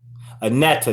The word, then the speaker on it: Aneta: Anita, is that right? Aneta, that's how you pronounce it.